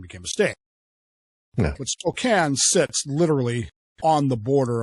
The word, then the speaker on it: Spokane: It's spelled Spokane, but it's Spokane.